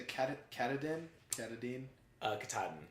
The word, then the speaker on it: Katahdin: say is a Cabot Canada at a Dean Katahdin Katahdin which is confusing for me because I was